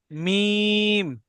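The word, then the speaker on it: ميم: মিম। মিম। মিম। মিম। যে 15 নাম্বার মাকরাজকে মিম কেমন উচ্চারণ হয় দুই হোটের অংশ থেকে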